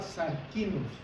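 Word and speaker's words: σαρκινός: Y esa palabra, hermanos, se pronunciaba sarquinos. A los corintios, a un hombre corintio le decían sarquino, que quiere decir carnal.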